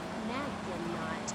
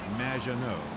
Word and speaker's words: Maginot: Naginot, welcome to the show. Thanks, Amy. However, you have mispronounced my name. It's Madge, which rhymes with badge, as in duh, and no as in more than you. Maginot.